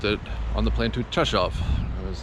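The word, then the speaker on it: Rzeszów: am now in session of Poland basically it's spelled with Rizzo Sal which is how I was pronouncing it all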